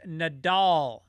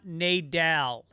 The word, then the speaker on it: Nadal: right right right uh Rafa's name is Nadal not Nadal also nobody who is